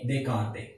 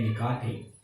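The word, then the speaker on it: Descartes: French mathematician Renee देकार्ते, actually उनकी spelling और जो प्रोनाउंसिएशन है दोनों में डिफरेंस है। फ्रेंच मैथमेटिशियन थे तो फ्रेंच में हमारे पास बहुत सारे वर्ड्स ऐसे होते हैं जो साइलेंट मोड पे होते हैं, तो वहां पे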